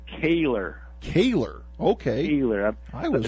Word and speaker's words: Kehler: Is it Keller? Am I pronouncing that right? It's actually Kehler.